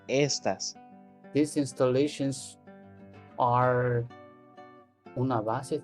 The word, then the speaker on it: estas: The difference in the writing is that the second one would have the accent on the A. Estás. But this one is estas.